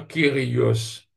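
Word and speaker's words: κύριος: kurios, kurios, ou soit kyrios. Parce qu'il ça U là moi prononce les UM dans grec, moi, parce qu'il dit pratiquement ça U français là, quoique elle la prononce comme un Y.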